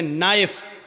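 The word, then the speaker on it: knife: उपलाइन बोला नहीं जाएगा जैसे इंग्लिश में नाइफ इसको कहते चाकू को ए नाइट के मानव चाकू लेकिन के लिखा जाता है बोला नहीं जाता वह साइलेंट रहता है है नीलमणि घुटना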